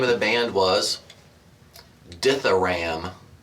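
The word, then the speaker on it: Dithyramb: of the band was diaram d t h y r a m b it has silent B you young intellectual diam cuz I guess if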